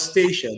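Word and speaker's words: Statia: pronounce at times, but feel free to call us Stacia. That's what we call it in the name, in the voice of the locals. We say Stacia. So feel free to call us Stacia if it's even if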